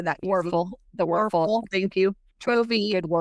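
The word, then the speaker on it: Wuerffel: Werfel.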